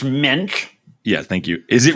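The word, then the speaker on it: Moench: Is it Doug Munch is the guy who wrote this originally? Yes. Jarret's going to be the actually guy on this podcast, if you don't know. Actually, his name is pronounced Minch.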